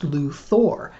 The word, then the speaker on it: Luthor: problem with this well it turns out that Luthor is actually a real name in the English language only it's spelled Lu th er this character's name is spelled Lu th o AR and just from reading it you would probably be justified in thinking that it's pronounced Luthor and if you thought that you would be exactly right at least prior to